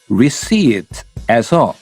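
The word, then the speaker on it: receipt: 알아보겠습니다 바로 영수증 드릴까요입니다 Would you seet에서 p는 발음을 하지 않아요 대답은 영수증이 필요 없으면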